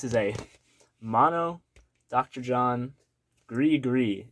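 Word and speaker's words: Gris-Gris: John Gree Gree is how it's pronounced, apparently. This is not how I pronounced it.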